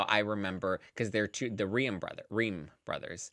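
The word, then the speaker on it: Reum: But so that's how I remember because they're the Ream brothers. Room. Ream. Room. Ream. Okay. Is it Room? It's R-E-U-M, so I assume it's Room. No, but I think they pronounce it Ream.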